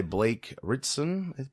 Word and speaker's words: Blake Ritson: revealed Brainiac played by Blake Ritson that's how you say it that's getting a lot